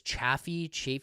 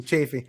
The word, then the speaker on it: Chaffee: Chaffee? I think I was saying it wrong. Chafee.